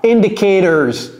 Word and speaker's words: indicators: Vous voyez comment j'ai prononcé ça? C'est comme si c'était E-U-R, n'est-ce pas? Indicators.